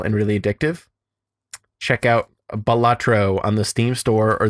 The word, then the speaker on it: Balatro: is a lot of fun I pronounce it batro but in classic fashion uh there is a tweet from the dev that just says it's pronounced batro so I think people like of course it